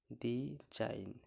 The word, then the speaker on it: design: আছে, ওয়ার্ড এর শেষে GN থাকলে তার উচ্চারণ আইন হয়, এ ক্ষেত্রে জি অনুচ্চারিত থাকে। এখানে দেখুন DESIGN, শেষে কি আছে, GN আছে, শেষে GN আছে, শেষে GN আছে। সো GN থাকাতে এখানে কি উচ্চারণ হচ্ছে না, জি অনুচ্চারিত থাকছে। ডিজাইন, শেষে এই যে নতে এন উচ্চারণ হচ্ছে, জির উচ্চারণ হচ্ছে না।